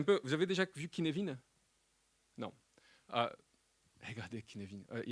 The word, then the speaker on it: Cynefin: C'est CYNEFIN. Ouais, c'est un nom de merde. C'est gallois. C'est gallois.